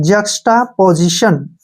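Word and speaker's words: juxtaposition: हैं ठीक है ना टी आई ओ को श लिखते हैं और एन को न अब इसको पढ़ते हैं जटा पोजीशन जटा पोजीशन अब हो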